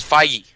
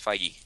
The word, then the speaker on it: Feige: No, it's Feige. What is it? How is it pronounced? Feige. It's Feige.